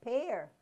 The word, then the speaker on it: pear: Now, also, E-A sometimes is pronounced with a long A sound, like pear.